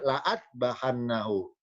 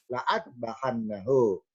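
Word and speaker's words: لَأَاذْبَحَنَّهُ: Jadi tulisan lam alif yang sebelah kiri la'a, dibaca la'a, sedangkan lam alif yang sebelah kanan bacanya la'u. Lamnya fathah, hamzanya miring ini adalah dibaca doma, la'u'adzibannahu. Sedangkan yang kiri bukan la'u tapi la'a, la'adbahannahu.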